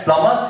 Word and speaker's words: plumber: It's like the B in plumber, because we end up saying plumber is here to work on the tap. It's plumber.